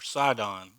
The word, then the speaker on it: Sidon: Canaan fathered Sidon, or Sidon, if you're pronouncing it in English.